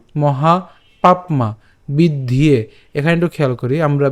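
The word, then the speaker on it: বিদ্ধ্যে: এখন এই যে এখানে জফলা আছে, জফলা উচ্চারণটা কার মতো হয়, আমরা জানি ইয়র মতো হয়, এবং ইয়র সাথে আবার কি আছে, এখানে একার আছে।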